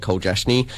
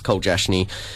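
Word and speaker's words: Koljasnik: K Kate and Jake Cole jashne it looks a lot more confusing to say but it's really not um there's a couple of silent letters but it's Cole jashne um yeah so Cade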